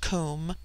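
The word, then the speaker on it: cwm: immortal Spirit Vidya immortality comb pronounced like the Welsh comb denotes something of hollowness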